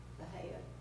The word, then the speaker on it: Bahia: I would, as far as ground cover, I was mentioning, is it pronounced Bahia or Bahia? Bahia.